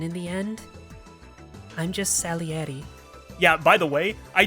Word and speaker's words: Salieri: found out I've been saying salieri wrong this whole time I I've been saying salary I don't know why it's just the way it looked to me but you have to like separate each syllables salieri like if you were saying it you know Italian style salieri right but I was saying salary anyway that's a blunder